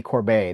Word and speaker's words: Corbet: You know, Brady Corbet I think he pronounces his name Brady Corbet, the director of The